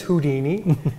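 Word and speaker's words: Whodini: And we thought this was very unique, because it's spelled W-H-O-D-I-N-I, kind of like the who of an owl, plus the Houdini.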